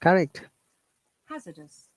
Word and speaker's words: hazardous: have to stress on that hazardous hazardous hazardous hazardous okay if you are pronouncing r that is american ipa and british ip remember that there is no r sound so it is hazardous hazardous do you have any